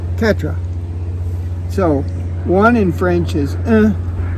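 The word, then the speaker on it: quatre: cat R it's like cat dog cat R Katra so one in French is two is Du three is TW four is Katra good I just has to practice I guess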